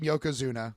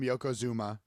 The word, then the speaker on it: Yokozuna: very first thing out of bartlett's mouth is mispronouncing yokozuna calling him yokozuma and saying that he's wearing a giant diaper